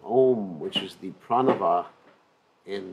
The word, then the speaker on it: Om: So as we mentioned before, many people consider the syllable Om to be impersonal. But the Acharyas explain that actually it's very personal, because A-U-M is Om, and that is Radha and Krishna, the living entity.